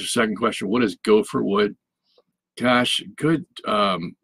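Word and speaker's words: גֹּפֶר: It's not, it has nothing to do with a gopher. That's just the way the Hebrew word is pronounced, gopher.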